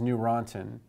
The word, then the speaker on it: Neurontin: acid and gabapentin is Neurontin and you can think of the n-e-u which is pronounced new as the newer anti epileptic and then Lyrica also is a newer one.